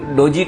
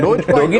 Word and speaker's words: Doge: डोगी तो नहीं बोलना ना, उसको डोजी बोलना है ना।